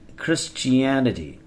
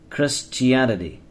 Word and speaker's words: Christianity: Christian culture okay in Christianity look at this H it is silent foreign sometimes we can pronounce d as D Christianity Christianity Christianity Christianity It